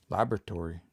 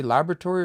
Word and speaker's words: laboratory: In either way, it's the fourth last syllable that I'm putting the stress on that word.